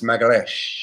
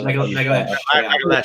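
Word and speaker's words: Magalhães: So Gabriel, I learned how to say his surname. It's Magalesh. Yeah, Magalesh.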